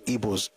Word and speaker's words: Igbo: the pronunciation the way they pronounce it traditionally in their own language is ebo and the best way